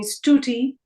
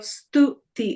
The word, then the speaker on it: Stuti: They would call me Stuti or Studi instead of Stuti. It's a softer the, not the harder the.